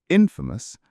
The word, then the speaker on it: infamous: The stress for both words is on the first syllable.